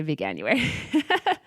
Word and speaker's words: Veganuary: a lot of people didn't know how to pronounce it, but it's not that hard. You could say Veganuary.